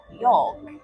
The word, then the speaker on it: yolk: So it is a golden beet yolk. That's right. That one's for my husband. Yolk. He does not like when I pronounce the L.